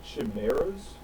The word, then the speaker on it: chimera: Aren't they called chimeras?